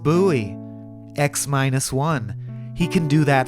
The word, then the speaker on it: Bowie: X, it's pronounced Bowie.